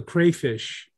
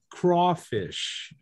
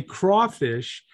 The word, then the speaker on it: crayfish: pronounce it in louisiana we pronounce it crawfish craw not cray but craw and everybody in america